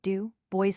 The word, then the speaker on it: Dubois: changes to osso too, the French oi sound is disposed of, and slash dubois slash is pronounced du, boys slash, and slash boileau slash acquires a first syllable rhyming with toil.